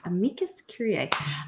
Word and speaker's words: amicus curiae: Curiae, amicus curiae, and pretty excited.